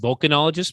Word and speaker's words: volcanologist: It's pronounced volcanologist, but go on.